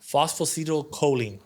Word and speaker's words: Phosphatidylcholine: Phosphatidylcholine.